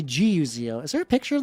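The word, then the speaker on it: Gazo: So, it's spelled G A Z O but it's actually Guo.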